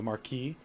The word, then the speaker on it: Marquis: ready to meet the Marquess or as it should be pronounced if we were speaking proper French it would be the Marquis and we need to